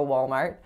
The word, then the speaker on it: Walmart: where they simply wouldn't have room for a Walmart so this one has two syllables and the first syllable is wall so